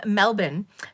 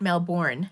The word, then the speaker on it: Melbourne: Diane is from Australia from Melbourne not male born as us Americans say it I've learned a